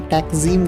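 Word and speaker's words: Taksim: Istanbul शहर का मुख्य चौराहा तकसीम, जिसे यहाँ के लोगों ने उच्चारण में टैक्जीम कर दिया है, यह चौराहा और इसके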